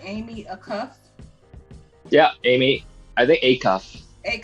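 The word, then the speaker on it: Amy Acuff: i'm glad you said that so am i pronouncing this right amy a cuff yeah amy are they acuff five-time olympian praises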